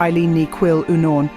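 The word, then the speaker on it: Eiléan Ní Chuilleanáin: poets, William Butler Yeats, Eileen Ni Chillian, pronounced Eileen Ni Quill Unorn, Emily Dickinson, Seamus Heaney and Sylvia Plath.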